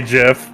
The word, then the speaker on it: GIF: our guests lord crowley guy who says gif with a soft g ray dark hold on that's me i say jeff jackson michaels penny pecan